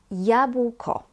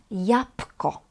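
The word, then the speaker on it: jabłko: Apple yabuko. Yabuko. But actually Polish people pronounce it very often as yapco yapco.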